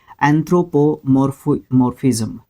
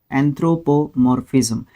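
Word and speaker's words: anthropomorphism: एंथ्रोपोमॉर्फिज्म, एंथ्रोपोमॉर्फिज्म, इसको है ना 3 सिलेबल में आप तोड़ के याद कर सकते हो।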